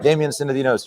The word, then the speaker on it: Damian Synadinos: All right, Damian Synadinos, you pronounced it correctly.